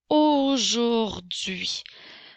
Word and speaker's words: aujourd'hui: aujourd'hui n'oublie pas l'apostrophe la lettre H est une lettre muette au jourduit comme dans